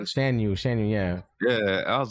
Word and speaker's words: Shan Yu: I'm like, you mean Shang Yu? Shan Yu, yeah.